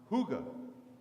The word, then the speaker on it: hygge: it that it's called hooga hooga it's actually spelled in English hy g ee looks like hiking but it's pronounced hygge and hygge is something